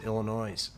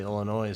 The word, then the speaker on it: Illinois: funny when they say Illinois with the S but I think the S is silent enough of that but